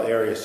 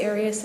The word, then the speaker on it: Arias: we're talking here um your name has been pronounced in most of this trial areas is there another way of pronouncing it if you always always pronounced it Aras I've heard it pronounced about seven different ways um I say Aras as does the rest of my family okay well let's back